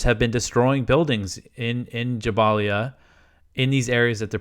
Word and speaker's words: Jabalia: The report said that the residents of Jabalia or Jabalia, I've been saying Jabalia, I think the proper pronunciation is Jabalia. I've heard people kind of say both. But the report said that